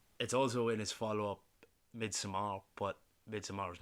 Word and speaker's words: Midsommar: Everything about this film, and it's also in his follow-up Midsommar, but Midsommar is not as consistently. It's just summer. It's not Though. summer. Because Midsommar. But it happens in midsummer. Yeah, but it's not Midsummer.